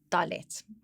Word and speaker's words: Dalet: So phonetically, it is D as in door. Duh. Do, Dalet.